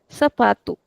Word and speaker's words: sapato: Sapatu. This is how we pronounce it.